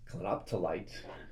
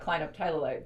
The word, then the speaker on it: clinoptilolite: the pronunciation here, but is it clinoptilolite? That's one way to pronounce it. Okay, tell me other ways. There is clinoptilolite. There is clinoptilite. I've never heard a group of scientists come to a consensus of how to actually pronounce it. I think clino, meaning it's monoclinic. That's why I wanted to say it clinoptilolite, but I don't. That's how I pronounce it.